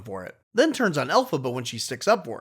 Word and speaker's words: Elphaba: And this gets Elphaba dreaming about meeting the wizard because she heard